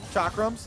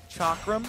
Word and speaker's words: chakram: see well so we were actually looking up chakrams and even though I've grown up in every game and I always hear everyone call them chakram yeah it's actually pronounced chakram all right si